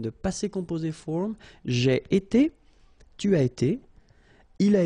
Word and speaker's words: été: itself every time, and it's pronounced like été, été. All right.